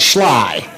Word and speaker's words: Schley: Well, they pronounce it Schley.